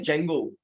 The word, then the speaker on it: Django: है, इसे बोलते हैं जेंगो। क्या नाम है इसका? बाय द वे, इसमें जेंगो में डी साइलेंट होता है।